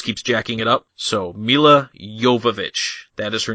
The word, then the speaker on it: Milla Jovovich: So we start with Milla Jovovich. And for those of you listening at home, that is the correct way to say her name. Milla Jovovich.